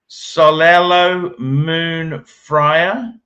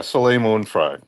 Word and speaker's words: Soleil Moon Frye: Her name is Solelo Moon Fryer. Yeah, Soleil Moon Frye. That's how you would pronounce that.